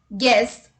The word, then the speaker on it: guess: look at the rule u is not pronounced when it comes after g and before a verbal let's look at the examples guess guidance guitar guest guild